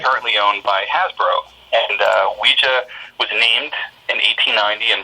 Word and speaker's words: Ouija: Bob Murch, with me, the leading expert, on Ouija Board, I don't know.